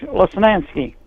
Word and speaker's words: Lesnansky: My last name is Lesnansky. I was a school teacher for 30 years. And yeah, Lesnansky was my legal name, and it definitely is a three-syllable name that's Polish and Slovak, and no, I'm proud of it.